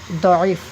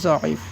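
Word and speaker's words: ضعیف: উর্দুতে সৎ এটা সিনের মতো উচ্চারণ হয় এবং দতটা জয়ের মতো উচ্চারণ হয়। কার মতো উচ্চারণ হয়? জয়ের মতো উচ্চারণ হয়। যেমন এটাকে আমরা জয়ীফ পড়ি, কি পড়ি? জয়ীফ, অর্থাৎ আপনি দত দিয়ে পড়তে পারেন, তবে দত দিয়ে পড়লে মনে হবে আপনি আরবি পড়তেছেন।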